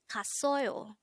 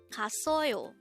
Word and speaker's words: 갔어요: study about the word gasseoyo. Let's start. Learn Korean one word at a time only here at Dae-Hangul. Word number 260. Gasseoyo, gasseoyo. This is pronounced as a three-syllable word.